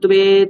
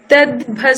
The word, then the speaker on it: त्वे: ये त्वे तदभ्यसूयन्तो नानुतिष्ठन्ति मे मतम्। ये ये ते ये ते তে নয়, তদ্ভসূয়ন্তো ওখানে তয় বয় একার আছে, তাহলে কি উচ্চারণ করতে হবে? त्वे, ঠিক আছে?